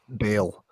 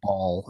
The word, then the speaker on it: Baal: I got made fun of in Sunday school for pronouncing it Baal. Oh, really? Apparently, they wanted to be the appropriate way. Baal. Because Baal, I remember saying ball, and there were Snickers.